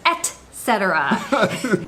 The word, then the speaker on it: etcetera: for all these years, I never realized I was saying it wrong, which is weird because I know how to spell it. I know it's with a T and not an X.